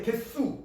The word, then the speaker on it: 개수: 발음할 때 개수, 수, 된소리로 바뀌어서 살소리가 납니다.